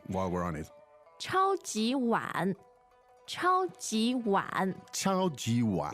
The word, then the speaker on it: 超级碗: 超级碗. Yeah, very straightforward. Super and bowl.